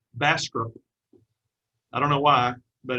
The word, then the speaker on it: Bastrop: And here's a bumper sticker that says, oh, Bastrop does not have U in it.